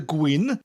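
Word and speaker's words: gwin: drinkin queen wine i'm a great way to remember the word queen is to imagine you're saying the word green like the color but with a cow Quinn just imagine when you drink in the Gwynn you have a permanent cold I'm drinking Queen that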